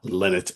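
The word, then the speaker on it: Lynott: So, uh, so yeah, Phil Linat is my pick for today or Lennet as the, uh, the folks from Ireland say it's supposed to be spoken and pronounced, but sorry, I've been saying Phil Lot for my entire life and I've seen various interviews and I've even seen an interview with his mother and she pronounced it that way.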